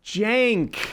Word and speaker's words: Cenk: and I've already learned something yeah yeah it's pronounced Jank oh like like a j what do you